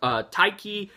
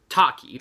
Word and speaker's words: Taki: michael s play both tyki and um me surah or taki sorry I pronounced that wrong see this is what